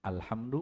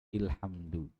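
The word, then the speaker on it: الحمد: ada pada Al Fathah dia jadi alhamdu Bukan ilhamdu gitu ya sering tidak dengar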